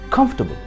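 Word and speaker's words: comfortable: Stress करिए कंफ पे, और ओ जो है F और R के बीच, उसे आपको प्रोनाउंस नहीं करना है। और तबल कहिए, टेबल नहीं।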